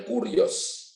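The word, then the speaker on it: κύριος: Bacanya kurios, penguasa tunggal.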